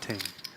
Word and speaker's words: Ting: He's saying it's pronounced Ting. Ting. I believe you're correct, and I was wrong.